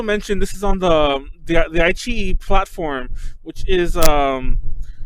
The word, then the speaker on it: iQiyi: The way I've always heard it pronounced, like within like most Chinese people, is like iQiyi, which is probably the more accurate Chinese-y way to pronounce it.